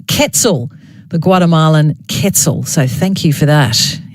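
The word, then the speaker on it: quetzal: one the Guatemala and I was calling it quel cuz that's how it's spelled qu t z a l EV has texted in to let me know it is pronounced Kettle the Guatemalan ketzel so thank you for that and keep your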